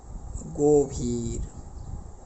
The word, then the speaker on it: গভীর: এর উচ্চারণটা ও এর মতো হবে অর্থাৎ আমাদের উচ্চারণের ক্ষেত্রে আমাদের বলতে হবে গভীর আমাদের কি বলতে হবে একটু লিখি ভালো করে